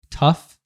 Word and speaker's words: tough: Tough. That's one that's underused, right? And it's a fun one for pronunciation. TOUGF, but the GH, but the GH is pronounced as an F.